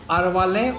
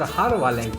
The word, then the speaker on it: Arvalem: or the harvard caves it is either pronounced as arwale or harawalan caves and also known as